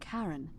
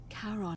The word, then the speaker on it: Charon: It's just as you described it, only your pronunciation is a little off. The name you heard wasn't Karen. It was C-H-A. Karen, my fucking... As in Charon.